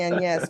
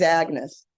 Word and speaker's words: Agnès: episode oh it's okay I'm only saying an yes because it's Europe you know uh in in America she's Agnes right I'm happy to stand